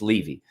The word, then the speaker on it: Levy: moov to Levy County Florida that's the proper pronunciation because people were asking Levy Levy it's Levy it's l v y they moved there in